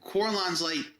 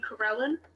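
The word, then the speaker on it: Corellon: And Corlon's, historically who I would follow, but I'm not super religious about it. Oh, you mean Corellin? Oh, is that how it's pronounced?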